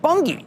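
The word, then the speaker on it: Bunge: At number eight, we have Bungie. That's up nearly That's B U N G E. That's how you pronounce it though.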